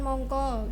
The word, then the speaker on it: mangka: Terus ada yang tulisan mongko, harusnya kan mangka gitu. Oh ya. Kalau sebenarnya di penulisan itu harusnya mangka tapi cuma dibacanya mongko gitu aja.